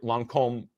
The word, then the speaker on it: Lancôme: Now, if Lancôme, right, Lancôme, if you say it correctly, if Lancôme accepts what's